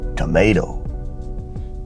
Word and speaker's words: tomato: becomes tomato tomato tomato the T becomes a flapped right d tomato tomato the reason is because that second T is in between two vow sounds so it's unstressed thus making the pronunciation tomato tomato excellent let's take a